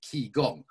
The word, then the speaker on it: qigong: Facebook message which is Chong spelled k i g o n g like key gong as one word I've